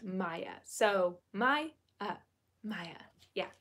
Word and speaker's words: Maya: adrian or natalie um how do you pronounce my name it's pronounced maya so my uh maya